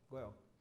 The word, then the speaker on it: Goerl: Como é que pronuncia? Correto, Goel.